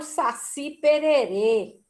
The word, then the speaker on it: Saci Pererê: O Saci Pererê. Saci, última sílaba. Pererê, última sílaba.